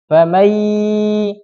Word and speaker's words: فمن: Nah, cara bacanya famai. Nah, ini harus dengung nih. Famai ya. Nah, itu harus dengung.